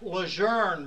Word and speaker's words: Lejeune: sorry comment on loss are we meeting at Camp Lejeune next week it's Camp Luzerne marine and this meeting is